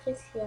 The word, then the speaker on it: Tressia: Ça s'écrit Trucia, mais c'est Tressia en fait.